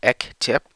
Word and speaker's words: Ektape: I call him Ektape, which is pronounced Ek-Tip.